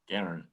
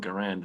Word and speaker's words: Garand: It's not an M1 Garand. It's not an M1 Garand.